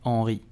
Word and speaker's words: Henry: You will say Thierry Henry. Thierry Henry. Thierry Henry. So the H at the beginning of Henry is totally silent, do not pronounce it.